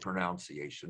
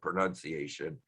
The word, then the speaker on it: pronunciation: Or is it pronunciation? No, pronunciation.